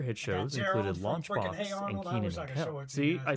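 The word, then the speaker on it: Kenan: Some other hit shows included Launchbox and Keenan.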